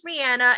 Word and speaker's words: Rihanna: The radio says Rihanna. Everyone says Rihanna. And all of her interviews, she goes, "Hey guys, it's Rihanna."